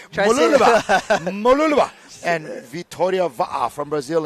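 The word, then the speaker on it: Mooloolaba: 6, it's pronounced Mululaba. Try say it fast. Mululaba.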